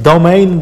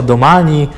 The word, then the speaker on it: Domane: Pamiętajcie, że te treki to nie jest domain, bo to jest zupełnie inne słowo. Ta nazwa raczej się wywodzi z włoskiego i panowie w treku wymawiają ją jako Domani, mniej więcej w tych klimatach.